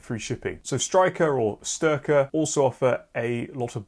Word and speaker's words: Styrkr: wrong the entire time it's not Striker it's sterker but I'm going to still